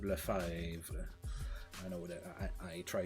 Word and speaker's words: Lefebvre: Now Lefebvre is a French-Canadian last name, and that's exactly how it's pronounced, Lefebvre.